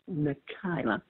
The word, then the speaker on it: Nikyla: wife name my wife's name is uh Nika nikila okay spell it for me uh n i k y